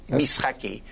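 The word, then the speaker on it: משחקי: So we pronounce it as S. Mishakei.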